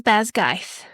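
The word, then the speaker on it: Basgiath: Now, the audio book said it was Basg. That's how she pronounced it. It's spelled B A S G I A T H or no, she said Basg. Yeah, it would be Bzgoth or something. Bezgithth. I would have said Bezgith.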